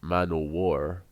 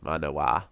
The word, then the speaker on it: Manawa: I always sort of rendered his name in Texas Manowar, because I thought it sounded cool, and I'll continue to do so, but, it's Manawa.